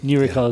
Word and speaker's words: NeuRecall: Am I pronouncing it right? I say NeuRecall. Are you saying NeuRecall? No, NeuRecall is good. NeuRecall is good. Excellent. New for neuroscience recall from memory.